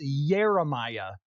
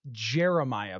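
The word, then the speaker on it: Yeremiah: have to be like it's Jeremiah not Jeremiah Bell I'm getting that right I'm not just saying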